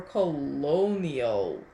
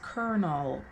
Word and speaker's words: colonel: sloths furnaces is that colonel or colonial colonial the word is kernel when i see the